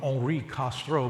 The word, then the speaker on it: Henri Castro: Now, the truth of the matter is, I'll call him Henri Castro because that's how we would pronounce it at home. Henri Castro was not a planner.